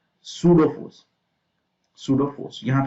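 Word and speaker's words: pseudo: Okay, centrifugal force को हमने real force नहीं माना है, इसको हमने माना है सूडो फोर्स। सूडो फोर्स, यहाँ पे P जो है ना वो साइलेंट है।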